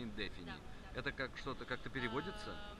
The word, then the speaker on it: Indefini: не сильно вас отвлечем так правильно называется indefini ставим ударение на indefini это как что-то как-то